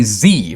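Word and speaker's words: xe: And that is, there's XZ, which is apparently Z, pronounced like a Z, or XYR, which is Zir.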